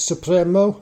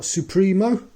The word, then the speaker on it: Supremo: slaz SEI balleros Supremo how do I know it's Supremo and not supro because the master himself uh says so let's just have a